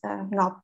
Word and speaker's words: Ngoc: The NG is, it's a difficult sound to make. So that's okay. But anyways, hello, my name is Ngoc.